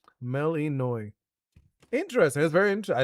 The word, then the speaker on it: Melinoe: Melanoi? Okay, Melanoi. That's apparently how you pronounce it. Because it's like the Greek pronunciation. Melanoi.